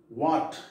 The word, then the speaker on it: what: foreign, G is silent, what, H silent, psalm, P, L, both